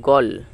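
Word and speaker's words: gall: পড়ে যাওয়া তারপরে পেলাম গল জি এ ডবল এল গল গল মানে পিত্ত জিতে গ আর আর এতে অ তাহলে গ অ ডবল এল এ ল গল গল মানে পিত্ত তারপরে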